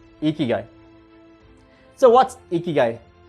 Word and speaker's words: Ikigai: So as an answer to these questions, I have a wonderful concept called Ikigai. So what's Ikigai? It's pronounced as Ikigai, and this is a concept from Japanese.